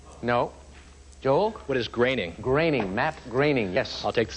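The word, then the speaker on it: Groening: Pronounced correctly, the name of this Simpsons creator rhymes with caning. Andrea. What is gaining? No. Joel? What is graining? Graining.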